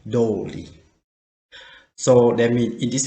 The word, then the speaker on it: とおり: So, what you should remember, that means if you put the no between the noun and the tori, you can pronunciation the sound tori like tori. But if you don't have the no, you should change the sound to be dori.